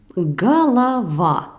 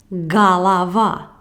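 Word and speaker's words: голова: avez probablement une question pourquoi je prononce gala va alors qu'il est écrit gauvard c'est juste une mystérieuse langue russe il y a deux voyelles au ayez qu'il change de son selon qu'il s'agit d'une voyelle accentuer ou non accentués nous verrons certainement les règles de lecture plus détaillées dans les prochaines de son mais pour l'instant notées çà au se prononce comme à lorsqu'il n'est pas accentuer regardons un exemple pour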